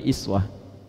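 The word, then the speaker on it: أسوة: Kalau Anda main ke sebagian negara di Timur Tengah, mereka bacanya iswah. Baik. Riwayat Warash Qalun bacanya iswah. Di Libya dibaca iswah. Di Maroko iswah. Aljazair ya, daerah-daerah Afrika Utara bacanya iswah. Jadi yang betul iswah atau uswah?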